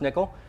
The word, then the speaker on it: N1QL: a nickel query nickel uh n1ql and it's pronounced nickel uh it really is SQL so it is